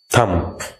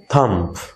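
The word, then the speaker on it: thumb: এই যে এখানে দেখছো এমবি, এমবি থাকলে বিটা সাইলেন্ট, থাম।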